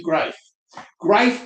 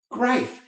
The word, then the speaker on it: Greif: say hi I'm Grafe by the way rhymes with life and people go oh and that's just so out there that people will remember griefe that's that life guy.